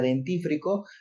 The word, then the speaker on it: dentífrico: Porque aquí, por ejemplo, está la palabra dentífrico y tiene una regla de acentuación, que es una palabra esdrújula, ¿verdad? Se acentúa en la antepenúltima sílaba.